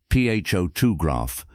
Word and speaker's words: photograph: For example, in the word photograph, the stress is on the first syllable, ph2 graph.